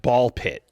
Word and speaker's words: BALL x PIT: Uh my next honorable mention is going to be uh well the X is silent, but Ball Pit Ball X Pit is a really cool game that jumped up this year.